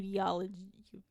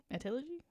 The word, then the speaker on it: etiology: of homicide by, in quote, undetermined you you diology etiology? Etiology? Spell it.